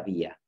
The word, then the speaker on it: vía: Y en otras ocasiones diremos una vía. Y una vía sí que se produce con ese sonido aproximante.